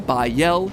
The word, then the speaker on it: Bael: All three of them, Bael, Pie Man, and Ba-Lam, are phonetic ways of pronouncing the names Bael, Paimon, and Balaam, three king demons from the Ars Goetia.